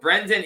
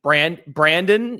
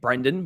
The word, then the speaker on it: Brendan: And sometimes I think people get caught saying Brandon, even though there's an E there.